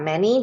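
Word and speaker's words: 妈: So this one is ma, ma, ma. Is mother. Okay, mama is mother.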